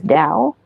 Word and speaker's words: Dao: Dao is balance okay you see d t this is pronounced as Dao and what is Dao